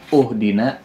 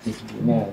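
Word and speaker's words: اهدنا: Ini karena kitanya sudah hafal saja, jadi kita tahu cara membacanya bukan uhdina, bukan ahdina. Ihdina. Ihdina.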